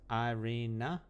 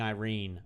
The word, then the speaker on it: Irina: It's pronounced Irina? Wait, isn't that how I'm... Oh, with a net at the end, and I'm saying Irene.